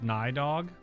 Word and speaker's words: Nidhogg: context of this game dragons are aliens spoiler nidhogg is a dragon also his name is pronounced nydog yeah also chi spawns in five minutes yup